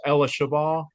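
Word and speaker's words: אלישבע: And her middle name, it's spelled in English, Elizabeth, but how you say it in Hebrew is Ella Shabbah.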